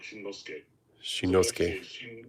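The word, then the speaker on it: Shinnosuke: So, the tricky part is actually his first name because it's got double end, but you actually pronounce both of those in Japanese.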